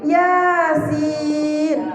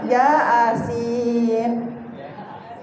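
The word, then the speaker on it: يس: Tapi bacanya na. Yang lucu ini, yasin, ya asin.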